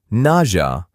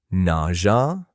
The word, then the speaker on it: nausea: This word has three acceptable pronunciations in American English. Listen closely. You might hear nausea, nasha, or even nausea. Can you believe it? All three are correct.